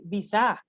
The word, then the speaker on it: visa: So you don't pronounce it like visa, no, because it's a noun.